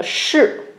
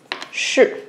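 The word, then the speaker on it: 士: Le garde, on l'appelle Shi. Ok, Shi.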